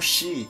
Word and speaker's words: 是: Shi, o SH você não pronuncia como shi, igual em português.